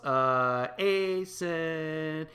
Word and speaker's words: Asen: Asen, it rhymes with Jason.